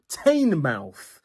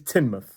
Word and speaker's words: Teignmouth: and it looks like Tainmouth. Tain mouth. Now, we already know about that suffix. It's pronounced muth. However, this place is not pronounced tain, it's pronounced tin. So, this place is Tinmouth.